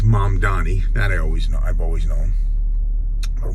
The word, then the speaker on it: Mamdani: Actually, I've been mispronouncing his name incorrectly, so I think that's always disrespectful, so I'm not one of those people. His name is Zohran. I was saying Zohran. And it's Mom Donnie.